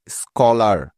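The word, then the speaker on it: scholar: যাক আর নিয়মটি হলো শব্দের শুরুতেই এস এর পরেই সি এইচ এই বর্ণ দুটি থাকলে ওই সি এইচ এর সাউন্ড সবসময় ক এর মত হয়ে যায় তাহলে চলো এখন এই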